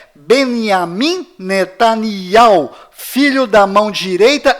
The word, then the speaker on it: Binyamin: Além disto, não é Benjamin. A pronúncia correta é Benjamin. Pois lembre-se, até hoje não existe em hebraico nenhuma letra com som de J.